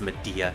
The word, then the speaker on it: Media: that's pretty much like her best attack it's pronounced media I me yes this the the healing spell